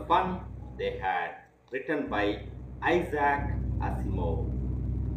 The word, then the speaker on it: Isaac: First, the title of the story is The Fun They Had, written by Isaac Asimov. Please underline this word and look at the pronunciation. ISAAC. Isaac Asimov.